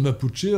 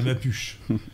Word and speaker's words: mapuche: Ce qui veut dire que les autochtones mapuchés auraient eu droit... Avec l'accent tonique sur le U. En espagnol. Alors en français, on dirait les mapuches.